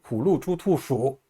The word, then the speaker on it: 虎鹿猪兔鼠: 후, 루, 추, 투, 수 입모양을 우 하는 모양으로 내밀고 똑같이 발음합니다. 후, 루, 추, 투, 수 모음이 같으니까 입모양 변화 없이 5개 발음을 쭉 하시면 됩니다.